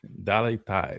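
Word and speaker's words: Dale: lot of people is that deo tide dal tide is how you pronounce it but um I don't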